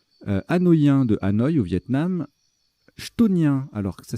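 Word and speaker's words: chthonien: Hein, donc il y a et ça se prononce chtonien d'ailleurs. Autant pour moi, j'ai fait 2 fois la bêtise. Ça se prononce chtonien. Chtonien, c'est dur ça, un mot qui commence par ct.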